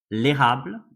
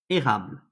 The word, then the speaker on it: érable: So here, for example, we have the word l'érable, which means maple, l'érable, and you see there's an accent on the E, so it's changed the pronunciation. E becomes E, érable. E, E, l'érable, l'érable.